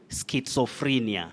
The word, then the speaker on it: schizophrenia: So that Z takes the sound, just like if you remember, we also say paparazzi, not paparazzi. All right. Paparazzo, not paparazzo. So in this case, this Z takes the sounding ts, just like also in schizophrenia.